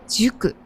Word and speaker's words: 宿: 宿と書いて塾と読みます。